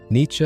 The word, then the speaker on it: Nietzsche: Nietzsche is roughly how you say it in German, though the English version has developed its own stubborn persistence, who lived from 1844